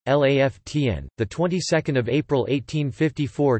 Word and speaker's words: La Fontaine: Henri La Fontaine, French pronunciation LAFTN, the 22nd of April 1854 to the 14th